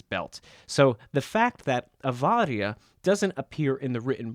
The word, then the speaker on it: avaria: You'll notice that I'm pronouncing the Latinized form of awar with a "v" sound, avaria.